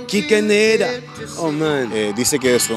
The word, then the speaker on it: Quique Neira: Kike Neira, el gran exponente del reggae acá.